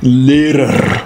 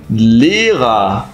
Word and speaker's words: Lehrer: Como professor, não é Lehrer, mas sim Lehrer.